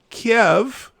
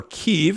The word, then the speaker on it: Kyiv: What was Joe Biden doing in Kiev, or Kyiv, as some people like to pronounce it, on January 17th, 2017?